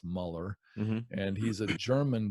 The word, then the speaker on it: Mueller: His name's George Mueller. It's technically pronounced Muller.